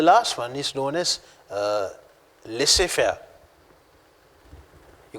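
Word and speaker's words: laissez-faire: transformation and the last one is known as lissefer you call this as let's say fellas it's a french term it's pronounced uh let's say fairs that's how it's a french word now let's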